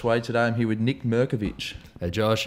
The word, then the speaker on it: Nik Mirkovic: name is Josh way today I'm here with Nick movich hey Josh how are you I said it